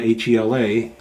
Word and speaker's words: Hela: I prefer Hila. H E L A in my pronunciation is Hila, but I know in the movies they called her Hela.